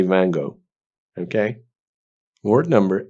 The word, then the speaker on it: Van Gogh: و یه چیز دیگه، ونگوگ هست نقاشه، اونو تلفظ نکنید این فارسی ونگوگ. In English they say Van Gogh.